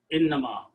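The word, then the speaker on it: إنما: Don't try to stretch between inna and ma, otherwise it will pronounce like this one, meaning will change. So make sure that in the tajweed, in the recitation of the Quran, you do a proper pronunciation, innama, not inna ma.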